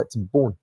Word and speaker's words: تبون: شوفوا هذا الصباغ كيفاش كينطقها بلا تغليط، كيقول حرف التاء كما هو تبون، والرئيس ديالو راكم عارفين شنو قال. وهذا دليل على ان رئيس لبنان كان كيقصد ويتعمد يغلط السميه ديال تبون وبدلتها بالطاء إهانة لفخامته.